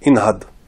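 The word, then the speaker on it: انهض: Quand il n'y a rien avant, on prononce cette lettre. Cette lettre, voilà, on la prononce. Donc, inhad.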